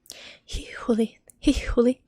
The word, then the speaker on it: hihuli: We pronounce H's very clearly. So if there's a word like hihuli, which means religious fanatic, you basically just hihuli. There's not a lot of words with double H in them, but you need to always pronounce H's in names and in other words. It's always very clearly pronounced, even when it's in the middle of the word.